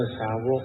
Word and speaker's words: สาวก: อัน นี้ ไม่ ถูก คำ ว่า สาวก ตาม ภาษา บาลี เรียก ว่า สาวโก้ง อ่าน ว่า สาวก สาวกะเทย พทธเจ้า จะ มาก